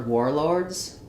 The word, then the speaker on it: warlord: W-A-R sounds like or. So in words like war, warm, warlord, it's going to be the or sound, same as in the word war.